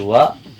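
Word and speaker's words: は: Di sini hurufnya H tapi dibacanya wa. Di sini saya jelaskan juga huruf H dibaca wa karena ini sebuah partikel.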